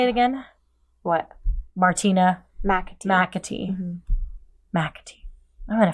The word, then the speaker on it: McAtee: McAtee.